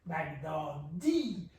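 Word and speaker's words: بغدادی: Another way to look at it is when it's Nesbat, it's as if there's a tashdid on the final E. Baghdadi. Because in Arabic it could be Baghdadiyu.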